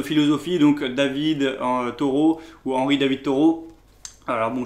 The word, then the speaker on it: Henri David Thoreau: Donc ça c'est un livre un petit peu aussi de philosophie, donc David Thoreau ou Henri David Thoreau. Alors bon, je prononce à la française, hein, mais bon, c'est un écrivain donc du 19e siècle.